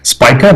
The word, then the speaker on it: Spica: Spica, that's how we pronounce the name.